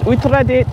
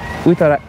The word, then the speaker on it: Uttaradit: Uttaradit. Uttaradit.